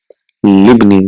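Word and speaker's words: لابني: See, libni, it is li ibni because it is hamzatul wasl, and ibnun, we know ibnun and ismun, they have hamzatul wasl, so that is not pronounced, so it is a libni.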